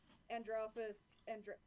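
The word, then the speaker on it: Andrealphus: Specifically, just the idea that people are weirded out that Androphus Andralphus. You got it the first time. I pronounced it right?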